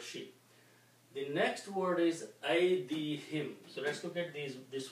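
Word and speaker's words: أَيْدِيهِمْ: To make easy on the tongue, we also pronounce this as him, not hum.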